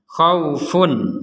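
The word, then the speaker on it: خوف: ada tanwin bertemu Ain kita membacanya dengan jelas khaufun jadi betul-betul funnya ini dibaca dengan jelas fun fun fun itulah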